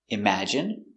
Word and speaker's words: imagine: so remember these words words ending in i and e can have different pronunciations all of these have the sound in Imagine examine engine discipline feminine and masculine thank you for watching